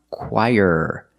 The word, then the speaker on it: choir: So remember, this word is pronounced choir. Very different than how it looks.